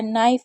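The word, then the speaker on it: knife: 28 rule है कि के एन अगर कभी भी के एन साथ में होता है तो के को नहीं पढ़ते हैं।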